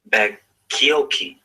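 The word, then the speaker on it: Bacchiocchi: A Seventh-day Adventist name, Samuel Bakioki. Bakioki is spelled Baccioccii.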